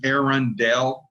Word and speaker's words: Arundel: arendelle is spelled uh the arendelle castle is actually spelled a-r-u-n-d-l-e and mine is aaron dell a-r-u-l and aaron dell is actually a real castle in england that's right my my